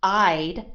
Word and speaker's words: I'd: So if I give you any words that start with the word family I'd, notice I, not I. I said I with a long I sound, okay?